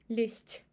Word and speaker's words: лезть: Z becomes devocalized because of following t, лезть, and we pronounce it as s.